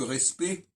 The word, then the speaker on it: respect: respect, qui s'écrit R-E-S-P-E-C-T, on entend que respect, on n'entend pas les dernières lettres, on n'entend pas le CT. Donc on a une règle du français, puisque l'autre jour je parlais de la savoir prononcer le français, on va dire respectable, ou respecté, mais on dira le respect. Et là, les consonnes C et T, on les entendra pas.